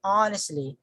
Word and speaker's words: honestly: we say honest honest oh the stress falls here so we say honestly honestly all the way at the